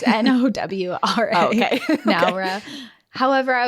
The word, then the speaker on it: Nowra: Is it like Nar? Like Nar? Nar. Nar. No, it's Nowra.